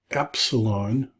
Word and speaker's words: epsilon: Epsilon, so epsilon is the word smooth, so smooth sounding E, as in bed or epigram, bet, peg. Alpha, beta, gamma, delta, epsilon.